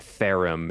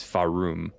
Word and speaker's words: Farum: Yeah, it's not Therum. It's Farum.